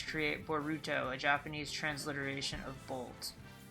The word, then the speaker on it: Boruto: names being Bordeaux Rudolph and Todd the first syllables of their names create boruto a Japanese transliteration of Bolt oh it's a boruto not b rudo my white ass the [